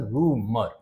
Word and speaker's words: rumour: रूमर, इसका pronunciation रूमर, ठीक है। रा को हल्का सा बोला जाएगा, रूमर। Don't believe in रूमर, okay. कई लोग इसको र्यूमर बोलते हैं, उनकी भी गलती नहीं है।